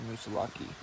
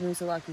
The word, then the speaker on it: Moosilauke: said there's a lot he corrected me when i said mussolaki yes but earlier he had said musa lucky himself i know and on